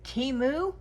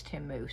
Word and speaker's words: Temu: uh it's spelled t-e-m-u it sounds like it should be uh timu but I have heard that it's Tim moo so we'll go with that um I'm basically doing